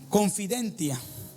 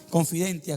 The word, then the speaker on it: confidentia: La confianza viene de una palabra que se pronuncia confidentia, ¿sí? Así como se confidentia, con T al final.